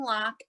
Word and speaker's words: Locke: and on facebook j-i-m-l-o-c-k-e and it's a silent e as a former teacher i'm big on the silent e so i appreciate that um so we have lock and make sure please